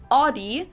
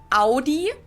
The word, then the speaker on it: Audi: Most Americans that I know pronounce it like I just said it, Audi. In German, we say Audi.